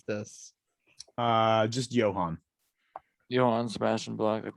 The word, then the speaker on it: Johan: an apostrophe before the end how do you pronounce this uh just Johan Johan Sebastian like that big job Johan last